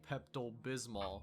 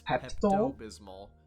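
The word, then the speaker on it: Pepto-Bismol: this one wrong initially thinking it was actually pepal Bismol when in reality it's pep bismal which is why I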